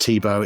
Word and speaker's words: Thibaud: Whilst it's pronounced Thibaud, it's THIBAUD. For those of the uncultured out there who don't understand these beautiful French names, that's how you spell it.